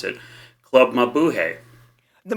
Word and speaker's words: Mabuhay: When you were talking about San Francisco, I instantly started thinking about, and you'll correct me if I mispronounce it, Club Mabuhay. The Mabuhay, yeah.